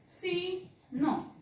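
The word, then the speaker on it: scene: च्या नंतर सी आहे तर बघा याचा उच्चार होत नाही सी म्हणजे क आहे ना सी म्हणजे क साऊंड आहे त्याचा क मग आता इथं आपण वाचताना घेतो का बघा हा शब्द आपण वाचतो सी न सीन याच्यामध्ये क साऊंड लिहिला का मी वाचला का नाही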